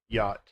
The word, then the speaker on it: yacht: They have similar pronunciations, but in English we have the silent CH, yacht.